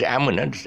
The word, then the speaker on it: almond: It's almond. The L is silent. No almond, but a very common mistake.